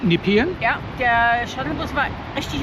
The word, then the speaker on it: Nepean: Also wir sind jetzt am Point Nippien. Nipen. Ja, wir haben uns jetzt also die korrekte Pronunciation ist Nippen.